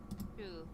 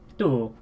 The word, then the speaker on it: tú: It's actually the same pronunciation. This is a more written thing than it is a pronunciation thing.